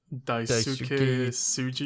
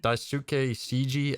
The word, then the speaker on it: Daisuke Tsuji: You want to pronounce this man's name, Waves? Daisuke Tsuji? Yeah, Daisuke Tsuji as Jin Sakai in Ghost of Tsushima.